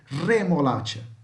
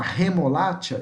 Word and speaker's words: remolacha: Então aqui, por exemplo, nós não vamos falar re, não, é re, esse vibrando, sabe? Igual minha voz aqui, remolacha. Se você falar remolacha, está errado. Remolacha, vibrando, ó, remolacha, tá? Esse é o som do R, verdadeiro, ok?